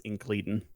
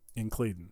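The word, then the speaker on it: Incledon: So I've checked just to try to find a pronunciation, and one I found for the last name was Incleden. Incleden.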